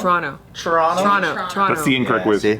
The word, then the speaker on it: Toronto: Are you from Toronto or From Vancouver?